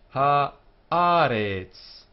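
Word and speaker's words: הָאָרֶץ: Ha-aretz. Three syllables. Ha-aretz. So there are four letters here. H, the Aleph, the Resh, and the Ts sound at the end, which is the final form of this letter. So you only see this letter at the end of a word. Ha-aretz. Ha-aretz. The accent goes here, where this little vertical line is.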